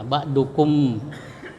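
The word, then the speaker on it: بعضكم: Cara membacanya mim disuarakan dengan terang dan jelas di bibir serta mulut tertutup. Ya, ba'dukum.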